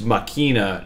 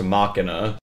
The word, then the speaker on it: Machina: Don't comment that it's, oh, it's Machina. No, you're just wrong. It is pronounced Machina.